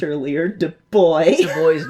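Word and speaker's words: Du Bois: thing talking about, oh, his name was pronounced D boy. And I was going, oh, okay, D boy, do boy. And what do I do? Dubois. Dubois sounds fancy and D boy sounds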